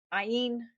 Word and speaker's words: Ayin: Um, Ayin is how we pronounce it.